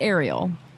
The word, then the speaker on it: Arielle: sing so it's it so it's aerial right right so that means the emphasis is on the first syllable mm-hmm so some people